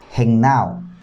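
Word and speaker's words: γεννάω: Nos damos cuenta que viene del verbo griego que se pronuncia gennao.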